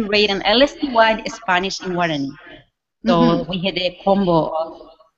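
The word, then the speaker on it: Guaraní: It shows Bible stories in Spanish, and I'm not quite sure how to pronounce it. Yeah, Guarani.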